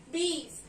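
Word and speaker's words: बीस: So this is the number for 20 and we call 20 in Hindi as ba ko badi ki matra, B, sa, bees, BEES, bees.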